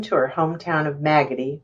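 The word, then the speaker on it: Maggody: her home town of maggoty rhymes with raggedy arkansas as the first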